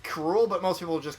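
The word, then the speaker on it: K. Rool: crop close King Kuru King krule officially it's pronounced Kuru but most people just call him krule okay he's Donkey Kong's archenemy in the Donkey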